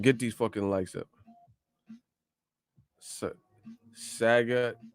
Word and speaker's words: Sagat: Sagat. It's pronounced Sagat.